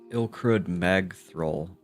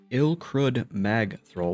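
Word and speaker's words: Ilkrud Magthrull: Ilcrud Mag thrrol. That's how you say it. Ilcrud Mag throw.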